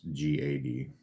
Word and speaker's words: Gad: a d is how I want to pronounce it but it's g a d um Gad and Asher all the